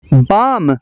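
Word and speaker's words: balm: और L silent है बाम बाम का मतलब है मरहम बाम का एल साइलेंट है अज सेंट अजे सेंट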